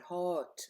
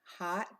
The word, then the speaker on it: hot: A lot of my clients, understandably, have always pronounced hot with an O sound, hot or something like that. You know, it makes sense, but no, it is pronounced with an ah sound. Hot dog, hot coffee.